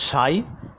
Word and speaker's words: psi: Where psi, this is pronounced as psi, is a function of x, and this is the lambda, that is the associated wavelength of that electron.